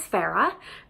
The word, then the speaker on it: Farrah: I always think I need to spell out my first name, otherwise people think I'm saying Sarah.